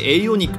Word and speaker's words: AONIC: 新しく、アオニックと書いて、エイオニックと読むと。